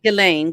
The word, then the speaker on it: Ghislaine: Galain. Galain. Like Elaine, but with a G.